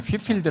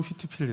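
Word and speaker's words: Whitefield: tv 에 q r 우리 이런 휫필드 라고 하지만 미 영국식 발음은 스위치 필드 라고 바라네요 예 번 우리 책으로 나오면 다 헵스 일대로 나오더라구요 아 거기는 스위치 피를 들어가죠 hpl 드 음 영국식 바로 히트 필드 인데요 우선 미국식 발음은 퀴즈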